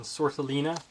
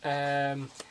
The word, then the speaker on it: Sortiliena: We have Kirito and Sortalina. I think that's how you pronounce her name, I'm not entirely sure. It's Sortiliena, and then Sortalina Serlu, Seorlut.